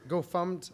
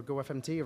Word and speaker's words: gofmt: Sure, GoFumt or GoFumt or GoFMT, right? Like everybody has different ways to pronounce these.